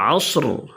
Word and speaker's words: العصر: করতে হবে ওয়াল আসর শেষের র প্রতিটা আয়াতের শেষে র রয়েছে দেখেন এই রর উচ্চারণগুলো একেবারে স্পষ্ট করতে হবে ওয়াল আসর আসর ওয়াল আসর إن